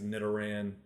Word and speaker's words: Nidoran: think it's Nidoran, Nidorino. So I think it might be pronounced the same way as like Ditto.